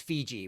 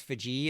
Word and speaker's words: Fiji: So I've I've always heard it pronounced Fiji, but I guess Fiji is how the locals say it.